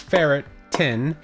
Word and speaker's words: ferritin: i thought wait um what the heck is ferritin pronounced ferret tin it is a protein